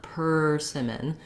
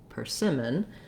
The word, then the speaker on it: persimmon: do a strong er you don't want persimmon but you do need that tight back american r so again you can build from the r er per persimmon another strategy is to